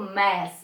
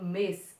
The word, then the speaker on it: mês: Eu não falo mês, eu falo mês. É fechado, ok?